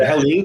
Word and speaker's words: Helene: I assume that Helene was is that how you say it?